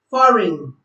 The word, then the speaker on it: foreign: B is silent before N in some words. For example, sign, rain, foreign.